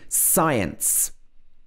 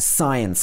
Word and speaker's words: science: thumbs up next is when c comes after s so often in this situation the c would be a silent letter for example in science i love science class so the c is silent also in muscle